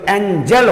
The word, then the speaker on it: angel: यहां पर ये जी का उच्चारण, ये जी जे जैसा उच्चारण होता है, एंजल।